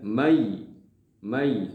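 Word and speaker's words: مَنْ يَقُولُ: sukun bertemu dengan Iya tulisannya Man yaquulu tetapi dibacanya Mai Mai Nah tadi saya lagi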